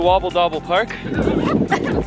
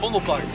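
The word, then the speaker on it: Vondelpark: Right now we're driving through Wobble Dobble Park. Fumble Park. Fumble? Fumble. But it's spelled with a W.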